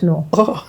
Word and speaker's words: Knorr: It's Knorr. That's how you pronounce it, Knorr.